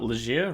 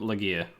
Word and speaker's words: Legere: because I'm pretty tall your name is pronounced lazier right correct yes sometimes I will accidentally say loggia I'm super Alisha you know that that's an acceptable variant um I've heard some